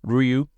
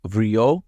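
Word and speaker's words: りょう: So we're thinking about Ryu fishing, and at the end of his line, he's got another dragon, which is Ryu. Notably, this is Ryo, not Ryu. But I think I marked this as child before.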